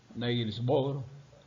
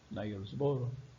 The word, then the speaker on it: Niels Bohr: Y entonces en 1913 viene un físico, Niels Bohr, vamos a pronunciarlo así como estamos acostumbrados en español, Niels Bohr, con un modelo de